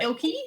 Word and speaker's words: Elkei: and lastly you know elky documentation oh yeah all the places um elky is a bit of a weird word